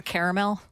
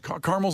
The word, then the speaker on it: Carmel: Are you sure it's not like Colonel? Because that's spelled weird. Or caramel. It's Carmel.